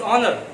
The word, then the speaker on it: honour: And I am thankful to you for giving me this honor. H silent रहता है, HONOUR. Honor नहीं पढ़ते इसे, honor है ना. H keep silent. H is silent here.